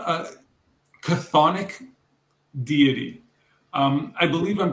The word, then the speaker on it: chthonic: Which one of these is not a chthonic deity? I believe I'm pronouncing it correctly. If I'm not, it's C-H-T-H-O-N-I-C, chthonic.